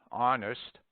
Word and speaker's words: honest: Omit the H in heir, heiress, herb, honest, honor, ostler, hour, humor, and also in their derivatives.